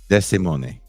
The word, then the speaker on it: Desimone: Is it Monet? Do I say it like an Italian? Like an Italian. I suppose it's a mix of Spanish and Italian anyway. But yeah, Yeah, Desimone.